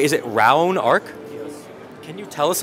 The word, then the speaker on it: Raonark: that's a pretty cool name so am I pronouncing this right is it R Arc yes can you tell us a little about